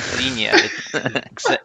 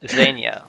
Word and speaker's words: Xena: pronouncing her name wrong it's not Zena zenya like like the Russian zenya zenya I have no